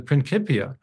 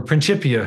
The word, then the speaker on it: Principia: of his great book, the Principia, or Principia, depending on how you like your Latin pronounced, it had a subtle theological implication.